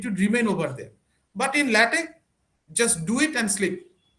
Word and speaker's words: LaTeX: to mention about there, though it's spelled as LaTeX, it should not be pronounced as latex. It should be pronounced as LaTeX. Okay, so most of the people, they actually do the mistake. They pronounce it as the latex. Actually, it's not latex. It's basically LaTeX.